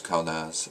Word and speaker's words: Kaunaz: But this is Kano, also pronounced Kauno in certain circles. It's more traditional. The Viking pronunciation was Kaunaz.